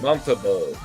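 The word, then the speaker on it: Montembeault: pronounce his name? Montembeau.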